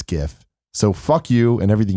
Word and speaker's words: GIF: I grew up in believing it was a hard G. Most people I know pronounce it like that too. Even the White House agreed on pronouncing GIF like gift.